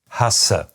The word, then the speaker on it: hasse: In fact, there is one pair where, for most people, there is almost no difference at all in tenseness. This is the difference between Hase and Hasse.